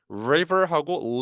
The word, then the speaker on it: river: liver, li, liver, river하고 liver은 다르죠.